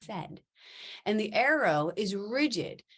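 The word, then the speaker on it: saighead: aspects of our being the Irish word for Arrow is pronounced said and the arrow is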